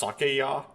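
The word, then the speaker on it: 酒屋: at sake shops similar is actually pronounced sakeya by taduki do you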